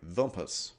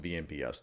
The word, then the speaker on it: VMPS: access mode this interfaces vlan is controlled by vumpus actually pronounced vnps do not pronounce it vompus people will laugh so we'll talk about vmps